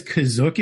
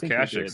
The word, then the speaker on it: Kashyyyk: Don't they refer to it as Kazuk in that? I feel like they horribly mispronounce it for the entire special. I always thought it was Kashyyyk, so it shows what I know.